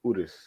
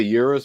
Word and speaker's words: Urus: Urus. Yeah. Thank you. It's Italian. People say Urus, but it's Urus.